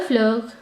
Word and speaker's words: fleurs: simply add an s, but do not pronounce this s. We do not pronounce the French plural s. Okay, so il y a deux fleurs, there are 2 flowers, il y a deux fleurs.